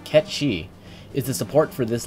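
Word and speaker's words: Cait Sith: Kate Sith, or how I found it it's apparently supposed to be pronounced, Ket Shi, is the support for this Lost Chapter.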